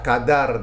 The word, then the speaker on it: Qadha: DD dan juga Dal maka sebutan yang betul ialah Qadar dan Qada ya bukannya Qadar Qadar dan Qada ha okey ah baik jadi